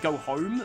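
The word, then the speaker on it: Goho-M: In terms of items, I think I'm fine on Go-Ho-M for now. I know some people pronounce it Go-Home, but yeah.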